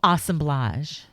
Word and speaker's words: assemblage: more time assemblage no no no no the way the art the art snobs say oh assemblage assemblage yeah think of colage think of collage I will think of